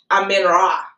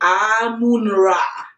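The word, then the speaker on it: Amun-Ra: And before then, I mean, I used to call the Egyptian god Amen Ra, the sun god Amen Ra. That's how I pronounced it. But in the dream, it was corrected. I was saying, everybody was saying Amun Ra.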